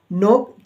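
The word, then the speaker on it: knock: ठीक आइए अब जानते हैं के लेटर कब साइलेंट रहता है तो यहां पर एग्जांपल के तौर पर मैंने लिया है नोक के एन ओ सी के नोक खटखटाना के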